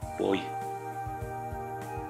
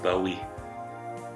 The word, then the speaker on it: buoy: get closer, you'll see it's a buoy, or as the Americans say, a bowie or buoy.